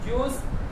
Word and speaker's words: Zeus: इसकी स्पेलिंग है ZEUS, ZEUS, ज्यूस। इसको हिंदी में आधा ज और य की मात्रा और ऊ की मात्रा स, ज्यूस देता। तो आधा ज यू स, ज्यूस।